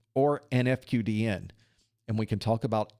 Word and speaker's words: FQDN: In this case, we're using it correctly because the FQDN is pronounced FQDN instead of a word there.